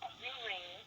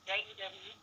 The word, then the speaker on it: Jewrine: Most important, I want to clarify my name is Jewrine. It is Jewrine. I have a very ethnic name. I'm very proud of it, but it's pronounced Jewrine.